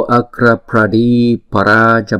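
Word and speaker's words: Agrapradīparāja: Và tiếng Phạn chúng ta đọc là Nam Mô Akra Pradi Paraja Buddha.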